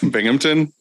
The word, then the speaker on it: Binghamton: by bennington how do you say it binghamton binghamton yeah and i said yeah it is